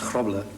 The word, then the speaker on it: Grobbelaar: If you took one B out of my name and one A, yes, and substituted the last A for an E, it'll be pronounced Grobbelaar, and that actual pronunciation in Dutch means clumsy.